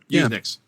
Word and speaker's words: USENIX: Is that how you pronounce it, Joe? Yep, USENIX.